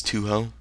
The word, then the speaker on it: Touhou: uh by the way I guess it's Toho uh I guess I was corrected on my pronunciation so thank you for that whoever uh told me the correct way to say it I'm going to keep